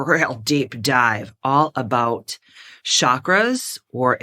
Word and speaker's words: chakras: deep dive all about chakras, or if you would like to pronounce it correctly in Sanskrit, chakras.